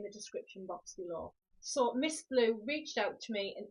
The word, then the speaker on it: Ms Blue: a company called called Miss blue now you do spell it as Ms blue but it is pronounced Miss blue and with me picking